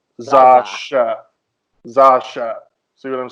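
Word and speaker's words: X Æ A-12: So like the letter X has the the kind of Z sound like in xylophone, and then AE, that AE sign is actually pronounced ash, and then you've got the A at the end. So if you put it together, Zasha.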